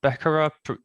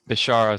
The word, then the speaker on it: Bishara: I think is it Becerra? Forgive me if I mispronounce it. Bishara, sorry.